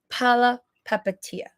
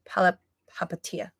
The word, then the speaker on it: Palihapitiya: Chamath Palihapitiya. I think the H is silent. Chamath Palihapitiya.